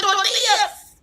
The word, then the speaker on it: tortilla: Some flour and corn tortillas.